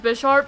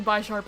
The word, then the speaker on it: Bisharp: Although I know it's pronounced Bisharp, but for some reason I keep saying B sharp anyway.